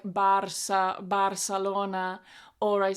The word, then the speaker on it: Barcelona: of learning Spanish, is I always forget to say like "profesora" with a strong "a" sound or "Barcelona" with strong vowel sounds, and I say like "Barsa Barcelona" or I say like "profesora" with this schwa sound.